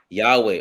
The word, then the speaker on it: Yahweh: That's Yahweh. Oh, that's how you pronounce when he says it at the end? Yeah, because the original Hebrew didn't have vowels. It was all consonants.